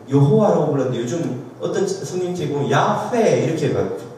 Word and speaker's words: 야훼: 그게 왜 그러냐면 옛날에는 그 그냥 여호와의 여, 히읗, 아 이 자음만 있었는데 그 밑에 모음이 뭔지 몰라가지고 학자들이 아 이거 아마 여였을 거야, 호였을 거야 이렇게 해가지고 여호와로 불러서 썼는데 최근에 학자들이 연구해보고는 그것이 부정확했다는 것을 밝혀낸 거예요. 그래서 좀 더 원래 발음에 가까운 게 야훼다 해서 최근에 바뀐 겁니다.